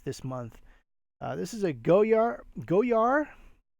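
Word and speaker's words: Goyard: month this is a go yard go yard go yeah I get you not supposed to pronounce the D and it's funny because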